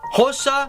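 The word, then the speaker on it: Xhosa: indebted petty sotho venda hossa and that is with a click that's how you pronounce an x swazi songa swana and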